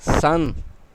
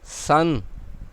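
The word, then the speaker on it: 三: اسے S-A-N لکھا گیا ہے لیکن اس کا تلفظ 'سورج' ہے، اس کا مطلب تین ہے۔ سان، سان، تین، اور یہ وہ اشارہ ہے جہاں ہم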